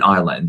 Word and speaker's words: Ireland: And the people from Northern Ireland, they are British, but they are not English.